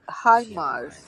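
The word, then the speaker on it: HIMARS: that they can use right right now like high mars did i pronounce right i'm not yes that's correct oh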